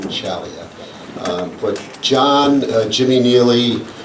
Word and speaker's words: Ciaglia: in the day was CLIA is how we pronounce his name and we were corrected along the way was John chalia um but John Jimmy